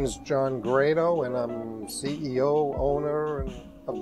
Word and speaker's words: Grado: least of which is how you're supposed to pronounce the name grotto or great oh well you'll notice I've been pronouncing it great oh and that's mainly because the way that John Grado pronounces it my name is